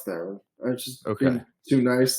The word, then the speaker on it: Theron: Charlize Theron, she has such a hard name to get right. Theron, Tough name, yeah. Because it rhymes with heron.